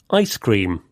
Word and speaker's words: ice cream: With compound nouns, the stress usually goes on the first part, like this. Popcorn, ice cream, keyboard.